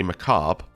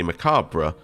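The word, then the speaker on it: macabre: Um so Americans say macab, British say macabra and then French say another thing which is kind of neither of the the above but closer to British.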